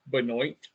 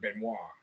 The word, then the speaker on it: Benoit: of pronouncing it um it's actually Beno which is actually the American pronunciation and then of course you got benois so a lot of